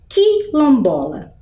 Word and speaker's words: quilombola: dígrafo isso acontece porque a vogal u não é pronunciada vejam quando eu falo faço o som do q eu consigo ouvir o som da letra U por exemplo quilombola eu só ouço o som do I quase como se ele